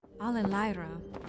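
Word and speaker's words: Allerleirauh: Al-ler-li-rao. He doesn't recognize it. I don't even know how to say this. Al-ler-li-rao? Ew. Alelaira.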